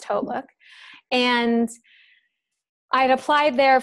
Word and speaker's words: HauteLook: Nordstrom company a lot of people call it hot look it's pronounced hautelook and I had applied there for like a